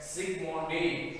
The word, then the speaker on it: Zsigmondy: இதை சொல்றதுக்கு Zsigmondy அப்படிங்கிறவங்க, Zsigmondy இத வந்து Z முன்னாடி Z சைலண்டா ப்ரொனவுன்ஸ் பண்றோம் அப்படிங்கிறவர் வந்து கோல்ட் நம்பர் அப்படிங்கிற ஒரு நம்பரை இன்ட்ரோ듀ஸ் பண்ணிருக்காரு.